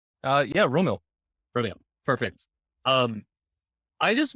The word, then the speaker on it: Rommil: I have Rommil Santiago. I'm pretty sure I pronounced that right. Yeah, Rommil.